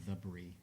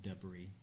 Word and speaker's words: debris: It's actually pronounced the brie, not debris.